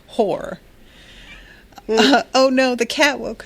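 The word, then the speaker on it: Hoare: under the rule of House Hor. Yes, pronounced Hor.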